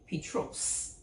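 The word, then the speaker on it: Πέτρος: Jesus gave him a Greek name which is pronounced Petros which means rock stones are used metaphorically to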